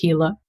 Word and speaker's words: Gila: It's spelled G I A L A, but it's pronounced Hila. There's no G sound.